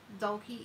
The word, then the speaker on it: Dolki: Dolki is it's pronounced Dolki, like a doll and a key that you might use in a door, like a Barbie doll and a key, Dolki.